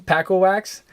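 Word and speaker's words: Pako Wacz: but his name, Paco Wax, is spelled P-A-K-O, Paco, and then Wax. And Wax is W-A-C-Z. Okay? Paco Wax.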